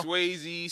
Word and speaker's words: Swaze: Nah, when sometimes if they say it wrong, like in a video or something, I'll be like, yo, bro, it's Swaze, man. It's, you know, everybody got Waze app, right?